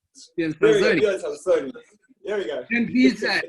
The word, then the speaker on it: Salsone: Is that the correct pronunciation? Björn Salzoni. No. Salzoni. Easy. Salzoni. If you just, you know, always say, you go like this, you get it. Salzoni. It's like, just kind of put it together.